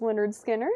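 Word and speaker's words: Lynyrd Skynyrd: Then Leonard Skard, pronounced Leonard Skard for $36.99.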